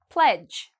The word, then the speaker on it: pledge: Pledge. Okay, pledge, again, all of these actually kind of rhyme. You see the D and the G together, we don't pronounce the D.